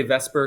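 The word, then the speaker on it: VSEPR: repulsion Theory uh VPR I like to say Vesper because it just sounds easier I know it's not spelled like that but it's just easier to say and bond hybridization so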